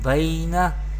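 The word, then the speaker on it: بَيْنَ: Laisa ba ya zabar bai, noon zabarna, baina. Here there is zabar before ya sakin, this is yalin, and this is harkat, zabar harkat, and we pronounce yalin without stretching or without sudden pause.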